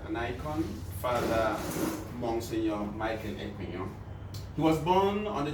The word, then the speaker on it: Ekpenyong: Monsignor Michael Ekpenyong. Did I pronounce it well? Oh, you did. But if you want to help in our localism, Ekpenyong. Ekpenyong.